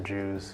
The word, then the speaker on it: Jiu: about loss and translation the name of the restaurant is Mr Jew spelled jiu which is a pin spelling of the character Jew my dad he lived